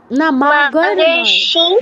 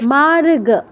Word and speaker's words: মার্গ: এরকম হয়ে যাবে আচ্ছা মাগার্ মার্গ গ এর উপর রেফ আছে মানে রয় হ্যান্তটা গ এর আগে যাবে হ্যাঁ মার্গ বলো মার্গাসি